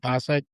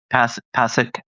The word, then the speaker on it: Pasek: Is it Pashek? Pashek? Pasek. It's Pasek.